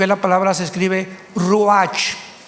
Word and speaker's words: ruach: Apunten todos ustedes, los que les interesa en su Biblia la palabra espíritu, que es la palabra se escribe ruash. R u a c h.